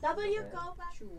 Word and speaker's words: WCOPA: That's how you pronounce yeah, W Copa.